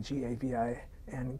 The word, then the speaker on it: Gavin: C-A-T-H-A, Katha, and I'm G-A-V-I-N, Gavin, so we sometimes even write a bar on the name tag.